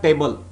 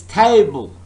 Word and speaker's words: table: It's not table, it's table. The first syllable is stressed.